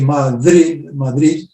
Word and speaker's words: Madrid: We normally say Madrid, with a fricative in the first D, and it's coincident with